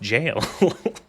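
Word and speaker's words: gaol: up and it's like oh it's jail is pronounced jail.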